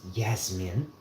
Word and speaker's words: Yasmin: There is a a name pronounced Yasmin. Yasmine. The J is pronounced Y.